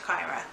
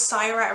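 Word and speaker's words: Cyra: where this girl's from, they like hard sounds for words, so I'm guessing it's Kyra. And basically Kyra and Akos live on two opposing sides of the same planet, and they are basically opposites.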